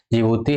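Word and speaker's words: Djibouti: तो पहला जो ऑप्शन है जिबूती है, जिसमें डी साइलेंट होता है, इरिट्रिया है और इथोपिया है और सोमालिया है।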